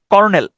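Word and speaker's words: colonel: উচ্চারণটা হচ্ছে lieutenant কর্নেল কর্নেল উচ্চারণটা হচ্ছে কর্নেল কিন্তু আপনি যদি স্পেলিংটা দেখেন সেচ সি ও এল ও এনই এল উচ্চারণটা হয় হচ্ছে কলোনেল আপনি পড়ার সময় যদি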